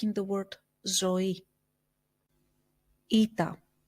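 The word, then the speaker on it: ήτα: in the word Zoe Ita which we pronounce as e like in the word Heroes feta Theta which we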